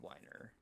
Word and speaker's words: Weiner: His is pronounced Weiner.